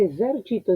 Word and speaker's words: esercito: Primero me encuentro con una S. Esa S es intervocálica, lo que quiere decir que el fonema que corresponde es este.